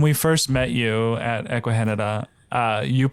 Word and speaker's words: Ecuagenera: so when when we first met you at eahan uh you pronounced eahan correctly however that's the first time I think